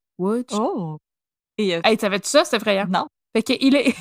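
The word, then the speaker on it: Łódź: ville qui s'écrit l DZ mais ça se prononce W oh etit ça c'est frayant il est il est n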